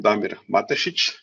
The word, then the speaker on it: Damir Matesic: So I am Damir Matesic. It's actually the right pronunciation, but it's a little hard if you are not from, let's say, Croatian or Balkans countries.